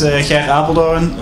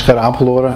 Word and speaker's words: Gerrit Apeldoorn: Next up is Gerrit Apeldoorn. I have a soft G as well, so probably not even the best.